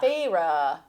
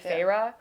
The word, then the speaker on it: Feyre: so we we meet phah phah is phah phah they're going to annihilate you in the comments